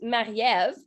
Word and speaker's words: Marie-Ève: My name is Marie-Ève, and if you want to pronounce it in French, it's Marie-Ève.